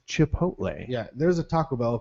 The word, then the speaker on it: Chipotle: ch ch there how's the lady at worksh she says uh Chipotle I'm like just read the word it's chip hotle yeah there's a Taco Bell commercial that's like uh chip a todle chip chip no the